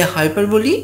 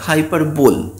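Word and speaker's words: hyperbole: এবার অনেকেই এই হাইপারবোলি শব্দটাকে উচ্চারণ করে হাইপারবোল। অ্যাকচুয়ালি এই শব্দটার আসল উচ্চারণ হচ্ছে হাইপারবোলি।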